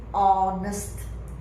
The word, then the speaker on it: honest: I see the pronunciation although we have a h here the H is silent you don't pronounce h you directly pronounce the next letter which is O so the pronunciation is honest honest not Hest know